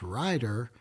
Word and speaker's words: Rieder: from the beginning it Reader is usually pronounced ryer and it's spelled r i e d r but everyone spells it